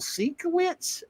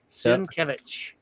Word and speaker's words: Sienkiewicz: Because people always say Bill Sienkiewicz. But I thought that too until I saw somebody pronounce it. Sienkiewicz.